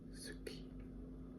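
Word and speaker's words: 好き: Guess what is the Japanese pronunciation? The Japanese pronunciation is Suki. Suki. Suki. Yeah. It's Suki. To build is tateru.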